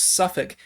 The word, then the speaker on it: Suffolk: and how the suffolk i'm being told it is pronounced suffolk county police department actually